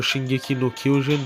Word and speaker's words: Shingeki no Kyojin: That was it for Shingeki no Kyojin. That's how you say it in Japanese if you wanted to know.